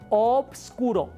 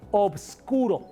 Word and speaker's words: obscuro: Fíjate cómo lo dije con B. Oboscuro. O vs. Oboscuro.